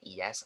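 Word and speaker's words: IaaS: s so in here you can pronounce this one es or is so either plus two but in here it's only pass or sas okay or pass or sass sometimes they skip uh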